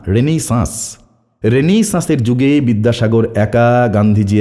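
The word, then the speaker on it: Renaissance: একা রেনেইসা এই কি উচ্চারণটা ঠিক করে করো রেনেসা না রেনেইসা রেনেইসা যুগে বিদ্যাসাগর একা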